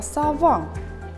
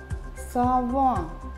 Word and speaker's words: сова: Рядом напишем слово сова. Сова. Поставим ударение. Сова. Давайте произнесем первый гласный звук в слове совы. Совы. Гласный звук О. Сова. Гласный звук А.